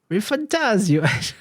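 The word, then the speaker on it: ReFantazio: which is Metaphor Rifantasio. I don't know how you're supposed to say this. Exactly like that. Rifantasio, Fantasio. I will always say it like it's an Italian word.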